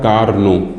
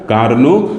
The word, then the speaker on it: Karnaugh: हम लोग पढ़ते हैं ऐसे लिखा तो ये वर्ड है लेकिन इसको पढ़ा जाता है कार्नो ठीक क्या पढ़ा जाता है कार्नो और आगे क्या लिखा